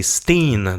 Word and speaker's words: Berenstain: un bon mot français, on va changer un peu notre façon de prononcer tout ça parce que c'est les oursons Berenstain, c'est un effet Mandela qui se comprend avec la prononciation vraiment. Et vous allez voir, lorsqu'on demande à des Américains d'épeler ou de prononcer le mot, je dirais à 99% du temps, ils vont dire Stein avec un E, mais en anglais on comprend que c'est Steen, donc c'est les Berenstain